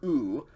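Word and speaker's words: οὐ: if we say i do not lose simply oo luo okay ooh and in the front of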